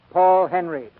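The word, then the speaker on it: Paul Henreid: in many a day he pronounces his name Paul Henry he and Idol Lupino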